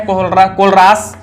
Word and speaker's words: Kohlrausch: ये जो कोहलरास है हमारे मिस्टर कोहलरास, ठीक है, कोहलरास इंग्लिश में कोहलरास प्रोनाउंसिएशन है, कोहलरास, ठीक है, ये देख लीजिएगा।